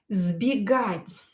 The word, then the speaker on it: сбегать: Another example is сбегать. Сбегать. Сбегать means to run away. Сбегать. Again, S will be pronounced as Z because it is located near voiced consonant B.